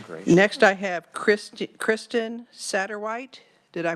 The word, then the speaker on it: Satterwhite: Next, I have Kristen Satterwhite. Did I pronounce that correctly?